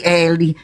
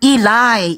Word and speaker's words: Eli: Eli, bukan Eli-Eli. Bacanya ilai. Ilai.